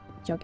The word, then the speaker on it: Jag: It is Jag with a G at the end. And you're missing the... What are they called? Well, the two little dots on the A. But you don't really pronounce the G when you say it.